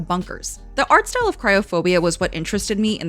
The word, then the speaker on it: Kriophobia: First of all, how do I pronounce it? Luigi. Oh, the game. It's Cryophobia.